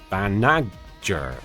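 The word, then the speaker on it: Banagher: To be very correct, it's a soft G. Banager. Banager. Banager.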